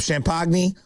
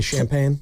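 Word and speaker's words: Champagnie: I always mess it up. Champagny. Thank you. I always mispronounce it. I always like to say champagne.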